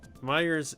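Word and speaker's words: Meijer: Meyers is m i j ery.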